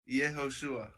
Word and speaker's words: Yehoshua: Yehoshua. Say again? Yehoshua. Yehoshua. Yehoshua. That's 4 syllables.